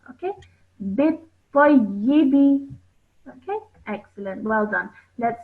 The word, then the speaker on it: بالطيب: Now over here, what you have done is you have joined the ba to the ta, bit-ta, and then you have again joined that to the ya with the kasra. Okay. Bit-tayyibi.